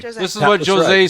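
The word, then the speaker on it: José: This is what Jose said drunkenly in their little meeting.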